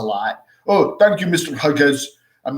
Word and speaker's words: Hughes: The GH doesn't work well for a lot of people. And I get called Mr. Hughes a lot. Oh, thank you, Mr. Hughes.